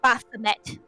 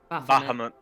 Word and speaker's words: Bahamut: I cannot remember how to pronounce his name other than try to say Baphomet. Bahamut.